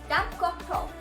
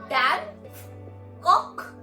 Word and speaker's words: Dampfkochtopf: Das ist ein Dampfkochtopf.